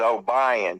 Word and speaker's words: Obion: And it's OBION is O'Brien, because you live in the South. It's pronounced that way.